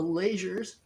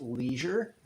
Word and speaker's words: Leasure: people we are the lasers our last name is pronounced laser it's not pronounced leisure um but that's just